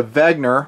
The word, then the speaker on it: Wenger: watch they are the Vagner I pronounce it with a V the German pronunciation C Force watches they